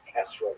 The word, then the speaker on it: etrog: We all know that the correct fruit to bring is an etrog, or esrog in the Ashkenazi pronunciation, but it doesn't say so in the written Torah.